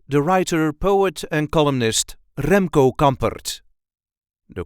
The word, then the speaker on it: Remco Campert: writer, poet and columnist Remco Campert. The correct pronunciation is Remco Campert. Remco Campert. There is a light emphasis on the first syllable of his first and second name.